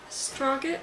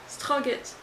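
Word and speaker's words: Strøget: Strogit, was it? Strogit. Struggle. Struggle. It is like struggle, but you were trying to swallow something at the same time.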